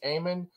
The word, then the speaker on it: Amann: pronounced your name right it's Ayman right yes and you may be